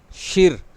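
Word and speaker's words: shí: इसमें आपको नज़र आ रहा होगा कि मैंने SHI कहा, लेकिन इसका प्रोनाउंसिएशन आपको बता रहा हूँ शिर। R इसमें नज़र नहीं आ रहा होता है, लेकिन जब इसको प्रोनाउंस किया जाता है तो शिर।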